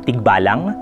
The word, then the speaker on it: tikbalang: Pero yung sa pagbigkas po kasi sa atin sa wika, yung G at K ay usapin lang ng voiced at unvoiced na sounds ito. So, yung tikbalang po, ang definition lang dito sa diksyonaryo na ito ay kathang nilalang sa kagubatan.